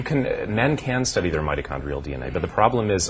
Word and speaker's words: mitochondrial: Mitochondrial, whatever. How do you say that? Mitochondrial.